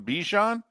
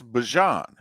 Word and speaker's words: Bijan: you with is he now telling us it's Bijan? Is that it? Is that his thing when he introduced? It's Bijan, right? For how many years now we've been calling him Bijan? Okay, it's Bijan.